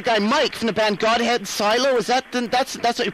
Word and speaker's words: Godhead Silo: Like, I was talking to the guy Mike from the band Godhead Silo. Is that, that's what you pronounce the name, isn't it? Yeah. Godhead Silo.